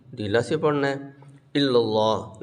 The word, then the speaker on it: اللہ: سے پڑھنا ہے، الا اللہ لفظ اللہ کا لام موٹا ہوگا، لا الہ الا اللہ،